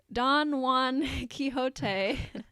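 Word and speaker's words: Don-Wan Kihotay: introduced jackson along with don juan quixote i and for those of you who don't know this is don juan spelled like obi-wan w-a-n kihote k-i-h-o-t-a-y and and as we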